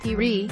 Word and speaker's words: Piri: by former all black piri piri not peri weeaboo who says pronouncing